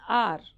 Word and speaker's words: hour: H silent, an hour.